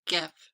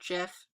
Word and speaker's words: GIF: I call it GIF, it's not GIF, because that's like how the peanut butter is spelled, but let me know how you pronounce it.